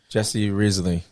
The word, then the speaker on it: Jessi Risley: Jessi Risley. As I said it right? You did.